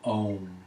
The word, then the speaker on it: Om: with 3 rounds of Om. A-U-M, all 3 syllables are sounded. The ah deep down in the pelvis, the ooh sound traveling up to the heart, and the through the throat onto the lips.